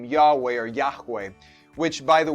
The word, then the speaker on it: Yahweh: by mere mortals yahweh essentially gives this name yahweh or yahweh which by the way it's incorrectly pronounced as jehovah what this name does is it serves as